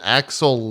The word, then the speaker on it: Axel: The gray-haired guy called Axel Leah? Is that... Syax called Axel Leah. Okay. Leah pronounced Lee.